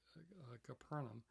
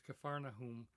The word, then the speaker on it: Capharnaum: He then returned to Capharnaum, and some people pronounce it Capernaum, but it's Capharnaum, the town of Nahum.